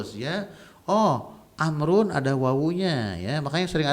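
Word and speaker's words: عمرو: Alasan yang agak serius kenapa Amr itu ada wawunya, untuk membedakan antara Umar dengan Amr. Umar dengan Amr gitu ya. Kalau ada wawunya berarti Amr, mimnya mati, Amrun.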